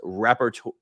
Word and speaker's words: rapporteur: Google says it's pronounced rapporteur.